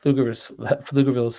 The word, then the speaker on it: Pflugerville: Thick and Twisted, Pflugerville's finest, the P is silent.